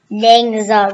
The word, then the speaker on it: NingXia: Yeah, it's pronounced NingXia red.